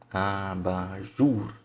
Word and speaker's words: abajur: Essa é a mais forte. É a sílaba tônica, é a mais forte. Vamos pôr de novo agora no vermelhinho, porque é a sílaba mais forte, a sílaba tônica, abajur, tá?